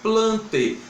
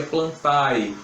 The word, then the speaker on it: Plantae: reino plante a pessoal planta se escreve plantae mas como eu não me latinha e latinha gente no final da palavra a gente só pronunciou e a gente não pronuncia plantar é plante o ar fica mudando uma fechadinha não é tá então teu reino